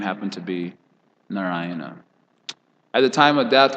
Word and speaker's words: Narayana: situated nearby naraina and because narayana four syllables are there not ryanna so for our lord